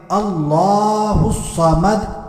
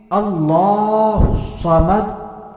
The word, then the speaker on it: اللہ الصمد: کامیاب ہو سکیں۔ تو ہم نے پڑھنا ہے اللہ الصمد، ایک مرتبہ پھر سن لیتے ہیں، اللہ الصمد، اللہ الصمد، اللہ الصمد۔ تو امید کرتا ہوں کہ میں نے پوری